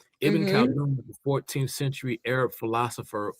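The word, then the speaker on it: Ibn Khaldun: I mentioned I said his name Iben Kaldun Iben Kaldun the 14th century Arab philosopher uh his most famous book he wrote a book called uh the Makama.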